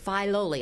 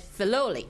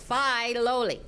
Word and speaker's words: Filoli: And it's pronounced Filoli. I'd always said Filoli, right? But it's Filoli.